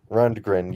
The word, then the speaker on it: Rundgren: guy's last name correctly run degren Rundgren yeah early work exactly how it's spelled just run grund it's actually some pretty